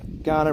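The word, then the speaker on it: Kaurna: Torrens which is also known in Ghana language Ghana is spelled KU R na but Ghana language uh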